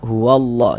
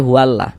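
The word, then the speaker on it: هُوَ اللّٰه: Nah, ini kita baca huallah jangan dibaca hula.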